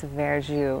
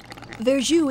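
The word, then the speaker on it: verjus: usual product called veru well first of all spell it is v e r j u s veru and that the literal meaning is green juice in French veru is not wine it's a juice made from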